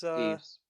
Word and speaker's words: Deaves: Yeah, it's Deaves. yeah, it gets misspelt and mispronounced a lot. It sounds like a way that a sort of a modern young person would say devious in kind of their language.